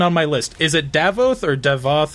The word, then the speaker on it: Davoth: Is it Davoth or Devoth? How do you say that? Devoth.